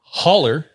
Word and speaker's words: holler: me get into it holler is the regional dialect pronunciation of hollow hollow okay referring to